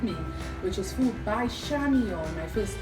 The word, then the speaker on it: Chamion: contact with with me which is food by shamon my first name is spelled c h a m i o n